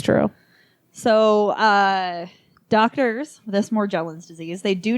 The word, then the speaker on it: Morgellons: Morgellons disease. I looked it up. It is the hard G. But I did watch a news report from Inside Edition where they called it Morgellons.